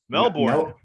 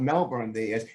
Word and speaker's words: Melbourne: malcolm all right um melbourne wow no no i learned a while ago it's not melbourne it's melbourne i don't know it was the art they don't pronounce the art for some reason so melvin am i